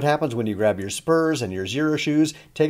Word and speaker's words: ZPURS: this is a product called Spurs and it's spelled with a Z so 0 the next